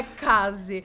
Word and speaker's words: Kaze: Kazé. Fica muito brasileiro, mas tudo bem, é Case. Vamos combinar assim, né? Case não, calma, tá me perdi. É Kaze, mas tá tudo bem, provavelmente